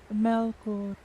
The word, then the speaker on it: Melkor: Lord Melchior. Melchior? Whatever his name. Melkor. Melkor. Oh, God, I was saying his name wrong the whole time, and no one corrected me.